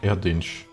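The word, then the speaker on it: Erdinç: Pronunciation last part is pronounced like Erdinch.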